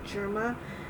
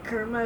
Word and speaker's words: Germa: of that word is personally I prefer germa I mean you could say kma if you want but to me that doesn't sound right so I'm just going